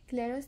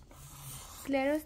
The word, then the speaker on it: Clairaut: आप देखें, फिर आपको क्लेरर्स थ्योरम भी समझ में आएगा। तो आज हम करेंगे अपने इस आर्टिकल में क्लेरर्स थ्योरम। क्लेरर्स थ्योरम में हम टी को प्रोनाउंस नहीं करते, हम क्लेरो पढ़ते हैं।